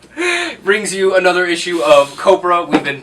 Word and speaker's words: Copra: Fay brings you another issue of Copra. We've been pronouncing it wrong. It is not Copra. It rhymes with Oprah.